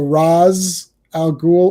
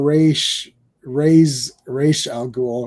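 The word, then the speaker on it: Ra's al Ghul: You could say Ray, so Raz Al Ghul, or Raish Al Ghul, right?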